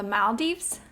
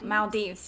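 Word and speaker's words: Maldives: to Bali and um I'm going to say it wrong because now I'm panicking because I was corrected the malds no Mal Dives yeah really really want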